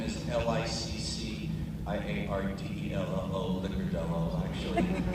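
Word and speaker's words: Licciardello: and then the last name is L-I-C-C-I-A-R-D-E-L-L-O, Licordello, actually. It's pronounced Licordello. If you're going to say it right, but it's Licordello.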